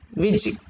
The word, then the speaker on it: Vujicic: Nick Vujicic, you have to write, but you should pronounce it as Vujicic.